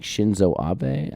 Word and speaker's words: Shinzo Abe: and I want to make sure I'm saying Shinzo Abe I believe is how you pronounce it um so he was prime minister